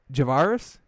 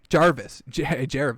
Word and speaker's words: Jarvis: But, Odell, Javaris? Why am I saying it wrong? Jarvis. What was I saying? Jarvis Landry and Odell Beckham may be the best wide receiver tandem in the league.